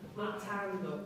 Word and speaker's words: montando: Montando. Not ten. Tan. Montando. That's better.